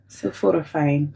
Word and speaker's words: sulforaphane: Sulforaphane.